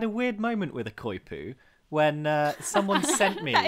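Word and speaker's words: coypu: Oh, yeah, the Koipu.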